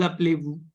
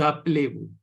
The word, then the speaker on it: appelez-vous: The Z will be pronounced, right? Comment vous appelez-vous? No, Z will not be pronounced.